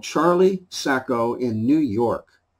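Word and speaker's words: Saco: It's called Charlie Sacco in New York. S-A-C-O, around here that's pronounced Sacco, so I'm assuming that's what it is.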